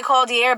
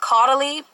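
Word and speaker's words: Caudalie: thing I got is I used to say cold year but I think it's pronounced caudally I got this um glow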